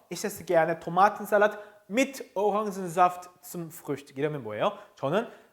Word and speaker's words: Orangensaft: 그 중에 오랑지 같은 경우는 그래서 Orangensaft라고 합니다. Orangensaft. Orangensaft. 오랑겐 하지 않아요. Orangensaft라고 읽고 Ich esse gerne Tomatensalat, 토마토 샐러드 mit Orangensaft zum Frühstück.